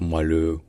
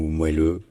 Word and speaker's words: moelleux: des arguments mais honnêtement dire moelleux ou moelleux les deux sont acceptables les deux sont courant